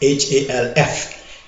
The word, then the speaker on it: half: Now, 2/4 is equivalent to the quantity called half, H-A-L-F. In English, they say half, which I think half, the way they say it should be spelled H-A-F-F, phonetically, right?